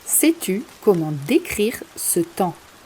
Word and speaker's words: temps: N'oublie pas de ne pas prononcer le P et le S, c'est le temps.